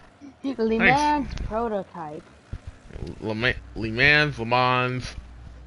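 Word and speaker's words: Le Mans: Some people pronounce it leans, but in the world of action sports and racing, lemons.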